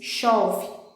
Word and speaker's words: chove: As letras em destaque são CH, mas eu pronuncio como se fosse apenas um som de X, chove.